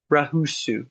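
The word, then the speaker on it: ruhusu: this ra ra ra The R's are typically rolled. Now, they're not hard rolled. ra ra But, they do have a slight roll. ra ra So ru ruhus Not ra. Ruhus u.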